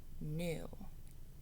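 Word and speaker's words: knew: noticing a pattern new i see that k n making that just n sound that silent k together kn saying new k n e w awesome so i just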